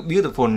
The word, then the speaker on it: beautiful: Ví dụ beautiful là trọng âm âm thứ nhất, nhớ luôn.